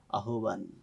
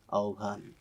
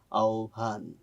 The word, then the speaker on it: আহ্বান: একটা শব্দ আমি পেয়েছি যে শব্দের উচ্চারণটা তুমি বলেছো আহ্বান আসলে এই শব্দটা আহ্বান নয় উচ্চারণটা হয় আহ্বান এটা হয়তো তোমার জানার